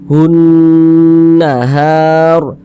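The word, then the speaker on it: مِنْهُ النَّهَارَ: Min hun, di bagian hunnya itu kita tahan, kita panjangkan sejenak. Hun nahar, seperti itu.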